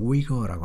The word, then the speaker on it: Uyghur: 위구르라고 이렇게 하는데 영어 발음 뭐 미국 사람들은 위거라고 합니다.